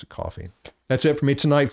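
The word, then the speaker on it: Ko-fi: And uh the link for that is in the description below again, and it's KOFI, whether you pronounce it, coffee.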